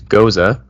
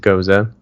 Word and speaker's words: Gose: we'll do a little intro to it it's goza it's spelled go e but pronounced goza not to be confused with goo which is